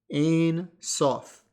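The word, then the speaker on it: Ein Sof: the cabalistic term exists a sof and if you're trying to understand that phonetically in English that's a i n second word s o f so until next time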